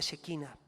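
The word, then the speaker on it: Shekinah: griego en el perdón en el hebreo se pronuncia chequina que indicaba que Dios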